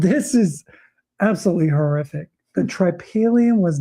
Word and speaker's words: tripalium: The tripalium was not a tool for farming. That's how you pronounce that.